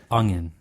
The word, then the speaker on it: onion: from around here when they say onion they say it u n g Yu n onion there's no g in it folks oh you want